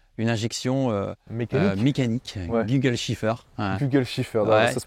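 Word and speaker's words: Kugelfischer: voitures française avoir une injection mécanique gole Shiffer Google shifffer ça se prononce comme ça d'accord voilà absolument tout mécanique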